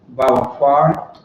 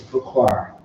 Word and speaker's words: Bukwar: Usually we say Bawakwar or Bakwar. You're Bawakwar. But right now, as far as talking to the general, they said it's Bukwar. Bukwar.